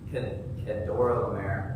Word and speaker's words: Kedorlaomer: And so the 5 kings on the one side chose to rebel against the main king, Kedorlaomer.